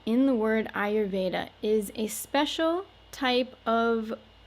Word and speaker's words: आयुर्वेद: the r and so when we put this whole word together ayurveda a little easier to pronounce that way rather than i yous notice that these two